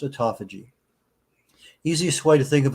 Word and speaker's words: autophagy: Au T FY p h a g y pronounced autophagy easiest way to think of autophagy is that